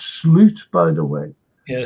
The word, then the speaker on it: Slot: And it's Sloot, by the way. Yeah, that's how you pronounce his name, Sloot.